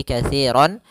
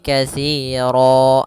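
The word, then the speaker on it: كثيرا: dengan alif maka itu dirubah ketika kita wakaf maka dia menjadi panjang katsiro maka katsiro bukan lagi katiron tapi katsiro atau juga misalkan katsiron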